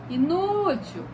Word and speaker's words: inútil: Como, por exemplo, a palavra inútil. Olha lá, inútil, inútil. O nu é a palavra, é a sílaba tônica. Então, ela vai ser paroxítona.